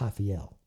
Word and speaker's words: Rafael: His name, it's Rafael Halbert, but in Portuguese you pronounce the R with an H, so it's Rafael. Okay.